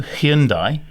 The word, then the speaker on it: Hyundai: But also, Hyundai, is that how you say it? It always was Hyundai, wasn't it? Hyundai. We've all been corrected thanks to that TV ad.